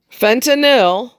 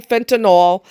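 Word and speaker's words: fentanyl: Fentinil, which is how it is pronounced. Stop saying fentinol.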